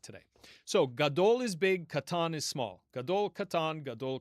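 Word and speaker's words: קטן: Um but the modern Israeli pronunciation is going to be katan with just a regular K.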